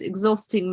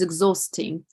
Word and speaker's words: exhausting: It is exhausting. If you listen to this word carefully, which is a silent letter, which letter I don't pronounce? H.